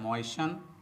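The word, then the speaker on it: moisten: तो दोस्तों, यहाँ चूँकि टी साइलेंट है तो यहाँ EN को अन पढ़ा जाता है।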